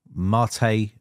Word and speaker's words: MATE: a desktop environment and we also have Mator mate depending on how you want to pronounce it but I'd just say mate but it is Marte I think but there you go